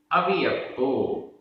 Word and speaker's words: अवियप्पो: अवियप्पो, अवियप्पो, आधा पा पूरा पा, अवियप्पो।